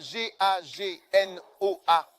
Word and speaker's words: Gagnoa: Le prochain c'est Gaganoa. Alors ça s'écrit bien G A G N O A GO.